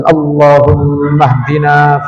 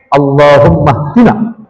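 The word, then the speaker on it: اللهم اهدنا: Karena kalau salat qunut sendiri dan bacanya salah satu saja yang qunut yang masyhur itu yang Allahummaahdina fianit qanya dibaca pendek Allahummaahdina itu kurang alif itu rusak dan disunahkan sujud sahwi.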